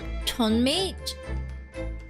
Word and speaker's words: chonmage: With a chonmage? How do I pronounce this?